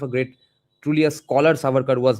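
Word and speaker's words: Savarkar: How much of a great truly a scholar Saukar was not just an ideologue of a random idea that wasn't how Surker operated.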